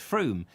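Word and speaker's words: Frome: yeah so it's not like from yes it's froome that's right with two yes so i was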